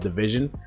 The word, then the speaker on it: DVSN: They're called Division, and it's spelled DVSN if you want to search it.